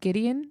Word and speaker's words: Gideon: The Gideon, is that how you pronounce it?